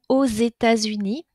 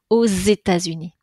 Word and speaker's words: aux États-Unis: Pays-Bas au u X vous avez entendu la prononciation aux États-Unis pas très facile à prononcer nous avons deux liaisons avec le X qui fait une liaison en Z aux États-Unis d'accord dernière situation avec